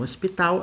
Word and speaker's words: hospital: Hospital, você pronuncia a consoante, tá?